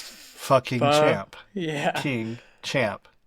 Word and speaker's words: Pho-King: because it's spelled Pho-King Champ, which we So pronounce fucking pho, champ.